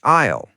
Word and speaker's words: aisle: And an aisle seat is next to the aisle. That's the walkway in the middle of the plane. Aisle. Aisle. It looks strange, but you say it like aisle. The S is silent.